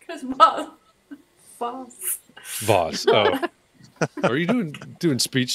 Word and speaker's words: Voss: Yeah, rhymes with the north side of a tree. Rhymes with floss. Chris Foss. Chris Bowes. Chris Voss. Voss.